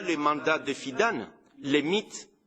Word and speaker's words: MIT: Pendant le mandat de Fidan, les mythes, je dis mythes parce qu'on le prononce mythe, on ne dit pas MIT, a massivement recruté des